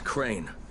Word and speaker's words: Crane: no my name is crane crane rhymes with train and brain and Seine and grain and rain and plane and the other kind of plane and and how can